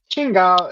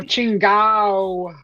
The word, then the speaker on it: chingao: Chinga, it means F-U-C-K. Oh, okay. Am I saying it right? Chinga? No, chingao. Oh, chingao.